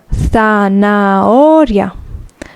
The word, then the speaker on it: zanahoria: Remember the H, we don't pronounce it, so zanahoria.